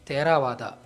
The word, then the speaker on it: Theravada: Hence, being Tamil word, Theravada should actually be pronounced as Theravada.